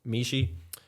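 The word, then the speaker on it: Michie: the result of so Professor Susan Mishi I believe that's how he pronounce it m i c h i e MH you give I would have said Mishi you would you yeah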